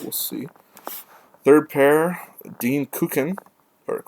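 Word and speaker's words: Kukan: this year but we'll see third pair Dean kukin or Ken I believe it's how you actually pronounce it because it Swiss so it's going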